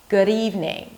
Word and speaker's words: good evening: So your D's are not so heavy when they're in the middle of words. For example, good evening. Now, it's this really light D, good evening. Good, I know, it's mind-blowing. Good evening.